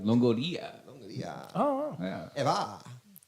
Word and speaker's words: Longoria: They don't have to roll the R if they don't need to. I say it like an Italian. Longoria.